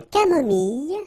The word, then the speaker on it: camomille: nature, une tisane, une camomille. So remember when we get this E and then double L, it goes like y.